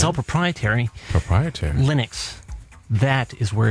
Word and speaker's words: Linux: I guess you pronounce it LYNX. Yes. No. LINUX.